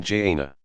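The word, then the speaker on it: جنة: narrow passage of no return called the Barzakh, pronounced Barzakh, to one of several destinations. Paradise is called the garden, Jannah, pronoun Jannah.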